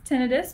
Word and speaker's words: tinnitus: And technically it's tinnitus, but you can pronounce it either way.